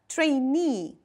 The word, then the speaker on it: trainee: Mind please the pronunciation and the stress. Trainee.